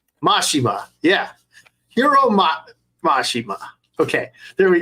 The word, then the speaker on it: Mashima: I don't know how to pronounce names correctly, so who's M-A-S-H-I-M-A. Mashima.